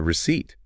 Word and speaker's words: receipt: Remember, it has a silent letter P. The small paper that proves you paid money. What is it? Think about it. It is the receipt.